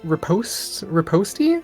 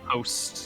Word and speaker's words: riposte: Rally, Fainting Attack, and Riposty? I don't know if it's French or something. I can't pronounce. I think it's just Riposte, yeah.